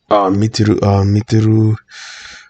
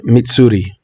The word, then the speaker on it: Mitsuri: Mitsuru. Fuck. How do I pronounce her name? I have it right here. Mitsuri.